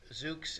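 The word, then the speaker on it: Zoox: So it's a Z-O-O-X, I think is how Zooks. It's spelled. Okay, that's Zooks. Easier to say once I can mentally picture it.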